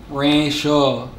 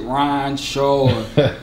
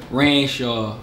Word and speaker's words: Ranshaw: your name my name Rancho Rancho so when you see me in the street you talk about me whatever don't pronounce it Ron Shaw ran in Shawn I hate that Renshaw I'm from Philly of